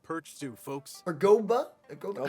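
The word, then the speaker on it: Guoba: Goba? How Goba? do you say his name? Goba? Gooba? No, it's not Gooba.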